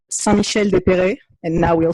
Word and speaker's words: Saint-Michel-des-Perrets: If anyone wants to check it online or to look at photos or anything, it's called Saint-Michel-des-Perrets. And now we'll spell it because that will not make a lot of sense for people.